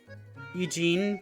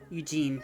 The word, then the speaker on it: Eugene: And that name is Eugene, pronounced wise? Or pronunciation-wise? Did I not pronounce it? Oh, I said Eugen. Eugene, yeah.